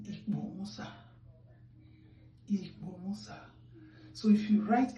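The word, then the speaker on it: Ikpomwosa: That I that is pronounced as I in English, we pronounce it as E, as in Ikbomusa.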